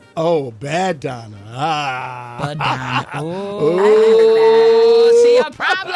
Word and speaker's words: Badonna: Badonna. So it's like Madonna, but with a B. Oh, Badonna.